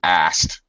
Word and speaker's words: asked: Very common for English speakers to reduce that to asked. He asked me a question. It will sound like that.